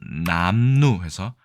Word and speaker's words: 남루: 드리겠습니다 자 국어사전을 찾아보겠습니다 이것을 보통 발음은 남루해서 앞에 글자가 장음입니다 그렇죠 남루 날과 헤진 옷이다 그러니까 남루하다까지는 아직 가지 않은 거예요 그래서 남루로 보통 발음한다 둘 다 니은으로 발음되는 것이 특이하네요 남루를 걸치다 옷이니까요 그리고